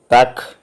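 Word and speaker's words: Tag: എന്നാണ് ഉച്ചാരണം ദിവസം എന്നുള്ളതിന് when letter G ഈസ് അറ്റ് ദി എൻഡ് ഓഫ് A word it ഹാസ് the pronunciation of the letter K for example T എ ജി is pronounced as ടാക്ക് it means day വാക്കിന്റെ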